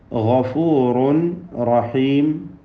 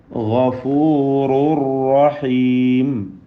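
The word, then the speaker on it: غَفُورٌ رَحِيمٌ: ഗഫൂറുൻ റഹീം, തൻവീനിനെ പൂർണ്ണമായും റായിലേക്ക് ലയിപ്പിച്ചുകൊണ്ട് ഗഫൂറുർ റഹീം എന്ന് പാരായണം ചെയ്യണം.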